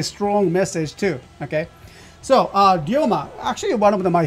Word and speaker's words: Ryoma: So it's a Ryoma. How, that's how we pronounce that.